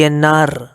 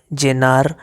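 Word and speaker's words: llenar: अब कुछ लोग इसको ज की तरह भी प्रोनाउंस करते हैं, ठीक है, जैसे हिंदी का ज होता है, ज मतलब य और ज के बीच की साउंड। जैसे जमार, जमार ऐसे भी बोलते हैं, जमार, जेवार, जेनार, लाजूविया, डिपेंडिंग अपॉन किस कंट्री में।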